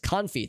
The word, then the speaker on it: confit: It is pronounced confit.